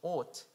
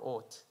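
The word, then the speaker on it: אות: The sign in Hebrew pronounces it as ot or ot, which means seal.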